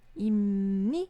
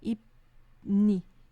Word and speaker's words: 입니다: Então, imni, ipni, imni, ipni. Não é mais fácil?